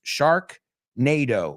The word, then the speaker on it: Sharknado: I mean, not that I know of, because it's not NATO like the North American treaty, aunque se pronuncia parecido, but it's Sharknado, like tornado, se escribe con D.